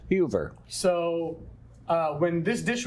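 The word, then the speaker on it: Heuwer: from uh what was her name heard uh hoover yes tell me how to pronounce that right h-u-e-v-e or w-e-r and the w is pronounced with a b so it's huber so uh when this dish was made it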